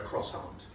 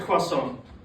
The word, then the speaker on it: croissant: and jam, which, ironically, makes her a cross-aunt. My sister's into me. Racist. And, eating a croissant, I'll say it correctly now, eating a croissant is like a trip down memory lane for me.